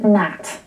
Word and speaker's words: gnat: That is an old English word, and the G would have been pronounced when it was first used in the days of King Arthur.